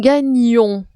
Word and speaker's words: gagnons: Nous gagnons. Nous gagnons au présent. C'est le GN se prononce NIE.